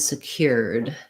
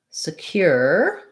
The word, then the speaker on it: secure: The stress is on the cure syllable. Again, that SE is not, it's not secure, but rather secure. Even a schwa, secure, would be okay. You just want to be short and unstressed there.